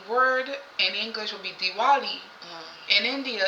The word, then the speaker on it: Diwali: Like, I never knew about Diwali, and in India they do not pronounce W as W. They pronounce W as V. So even though it is the word in English would be Diwali, in India it's actually Diwali, right?